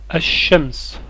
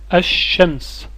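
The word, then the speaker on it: الشمس: mot essayez de le prononcer je vais le prononcer reconnaissez les sonorités asams asams le soleil quelles sont les lettres contenues dans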